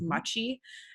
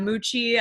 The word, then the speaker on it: Machi: many people to pronounce it was machi and machi is kind of a lot I got a lot of Moochie a lot of and so I was